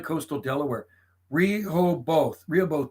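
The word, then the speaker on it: Rehoboth: palmy you gotta like Coastal Delaware reho both Rio both pronounce Rio buff real buff okay that's it that's it because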